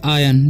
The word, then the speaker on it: iron: यहाँ पर लिखा हुआ है IRON, तो बहुत सारे स्टूडेंट इसे आयरन पढ़ते हैं, तो इसे आयरन नहीं पढ़ना, इसे पढ़ते हैं हम लोग आयन, ठीक है। यहाँ पर R साइलेंट रहता है, ठीक है।